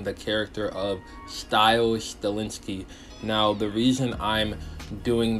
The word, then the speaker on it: Stilinski: Bao I came for nothing his name wrong ro my god Michi suave Stiles stilinski there we go I finally got his name